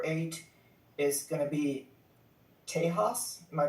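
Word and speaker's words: Tejas: Um, I'm gonna go uh for my number eight is going to be Tahas. Am I pronouncing that correctly? Yeah, Teahas. Yeah, Teahas.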